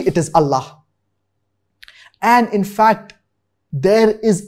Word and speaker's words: Allah: him number one verse number two the word Ella has been used which if pronounced correctly correctly it is Allah and in fact there is a separate upanishad